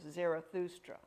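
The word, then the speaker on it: Zarathustra: zoroaster but that's the Greek pronunciation the original pronunciation was zerathustra he's like Moses he gave he took the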